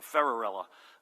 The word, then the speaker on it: Ferrarella: I asked his family I want to make sure I get this pronunciation right and they said thanks Cinderella so ferrarella John there he is